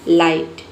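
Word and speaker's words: light: देखिए इसमें जो है जी एच जो है ना आई जी एच टी अगर एक साथ आता है तो इसमें जी एच लेटर साइलेंट हो जाता है। हम जी एच को नहीं पढ़ते हैं।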